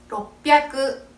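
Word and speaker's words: ろっぴゃく: 작은 동그라미 반타이 붙게 돼요 자 그럼 600부터 발음해 볼게요 600은 로끄 로끄 800은 하 합가 되는 겁니다 자 다시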